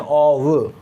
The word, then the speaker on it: of: क्या है वन ऑफ, ओ एफ को बोलते हैं ऑव, है ना. ध्यान रखना ये जो लिटरेचर वाले स्टूडेंट्स हैं, इंग्लिश वाले स्टूडेंट्स हैं, उनको ध्यान रखना ये प्रोनाउंसिएशन होता है ऑव. यदि वैसे लिखे तो आप ऐसे कह सकते हो ऑफ, हालांकि ये बिल्कुल सही नहीं है, ऐसे नहीं होता.